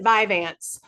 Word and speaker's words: Vyvanse: So, Vivance, known I pronounce it Vivance.